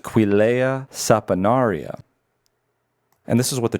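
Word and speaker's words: Quillaja saponaria: The tree is pronounced Quilea saponaria.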